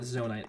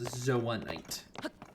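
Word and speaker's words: zonaite: I keep calling it zonite. It's zoanite. I will do better to pronounce things correctly in the futuro.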